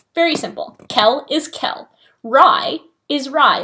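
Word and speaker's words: Rhy: Lila, Rye. Not Rice, with an S, not Reese, not anything. I mean, I don't care, but if you want to know how to say it right, that is how you say it right.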